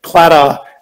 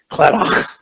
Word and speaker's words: Claddagh: And Claddagh is how it's pronounced, but if you do it in Gaelic, it's Claddagh. So they kind of spit everything in Gaelic.